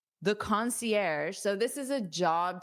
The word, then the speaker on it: concierge: Our concierge, concierge. So, this is a word we borrow from the French language.